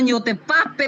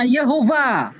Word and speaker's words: Yehova: Berarti bukan YOTFAP, bacanya Yehova.